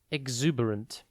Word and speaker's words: exuberant: U and spelled e EX u b e r a n t think x e ex and then Uber like the taxi company and then ant exuberant is an adjective